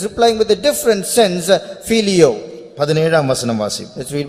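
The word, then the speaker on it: φιλέω: He is using another word in English, it's pronounced as filio.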